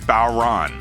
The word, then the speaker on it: bodhran: of drums and it's spelled b-o-d-h-r-a-n and it's pronounced bauron what am i holding and what do